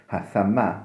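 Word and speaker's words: ثَمَّ: Thumme yeftahu thumme bifeth, themme, özür dilerim, themme kelimesi, themme, yani thumme değil de themme bifeth thai, sa harfinin fethasıyla, üstün okunuşuyla, bir mana hunake, fehuve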